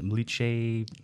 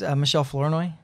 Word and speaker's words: Michelle Flournoy: You said Mliche. It's Michelle Flournoy.